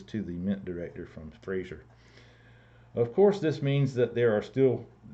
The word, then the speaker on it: Fraser: They got some work from Fraser, rhymes with laser.